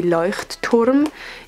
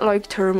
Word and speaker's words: Leuchtturm: I'm using the Leuchtturm. Yes, that's how you pronounce it. A lot of people use this brand and it's super good, but it's not Leuchtturm or whatever you want to say it.